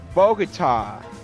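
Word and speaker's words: Bogotá: And the other is pronounced Bogota.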